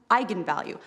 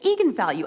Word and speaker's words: eigenvalue: came out because apparently it's pronounced eigenvalue that's how you're supposed to say and the director don't bleep me the fing director told me to say Egon value and it's eigenvalue and the whole internet